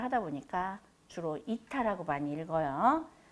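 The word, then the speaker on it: eta: 그 다음에 문자 요거는 이타라고 읽어주면 돼요. 에타라고 읽기도 하고 우리 한글식 발음을 하다 보니까 주로 이타라고 많이 읽어요.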